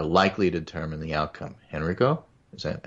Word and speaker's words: Henrico: 700 votes all right Henrico is the the claim to correct pronunciation and Reiko Henrico yes thank you so mr.